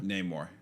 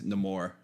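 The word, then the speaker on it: Namor: character you're referring to name more the white way to pronounce it it's no more in this movie because they kind of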